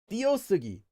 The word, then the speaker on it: 띄어쓰기: But, um many diphthongs, in fact, most of the time actually get pronounced simplified as only one syllable.